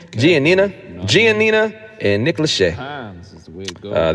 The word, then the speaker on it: Giannina: uh Gene how do you say her name giannina giannina and Nick Lachey uh they're making love